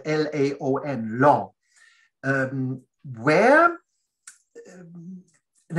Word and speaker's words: Laon: Another thing, it is it was close to Laon, Laon, which is spelled l a o n, Laon.